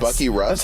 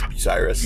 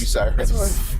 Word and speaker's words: Bucyrus: it's called Bucky Russ. That's how you pronounce it? No, it's Bucyrus. Bucyrus.